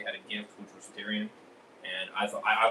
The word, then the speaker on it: Tyrion: So, Jorah in Tyrone or Tyrion. Sorry, I always keep pronouncing that wrong. Tyrion.